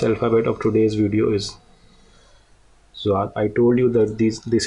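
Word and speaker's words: ضاد: So the sound is Zwad. Zwad. Okay, Zwad. Zwad. Okay, Zwad. So the word in English language would be zoo. Okay, or zebra. Zebra. Okay, which could be used to pronounce the sound of this Zwad.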